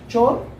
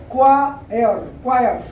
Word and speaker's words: choir: चोर नहीं है, मैं आपको बता देता हूँ। CHOIR, ये वर्ड है क्वायर। क्वायर होता है अब ग्रुप ऑफ सिंगर्स, है ना, जो सिंगर्स होते हैं चर्च वगैरह में ज्यादातर, उनको बोलते हैं। यह वर्ड है क्वायर। यहाँ पे आप हल्का सा स्ट्रेस देंगे क्वा पे, ये आगे सिखाएंगे हम स्ट्रेस कैसे देते हैं, क्या होता है क्वायर।